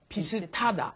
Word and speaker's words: 비슷하다: Notice the pronunciation might seem a little strange. 비슷 ends in a shit, an S Right. sound, right? But then it comes up against the hiat in hada, and then it becomes ta, 비슷하다.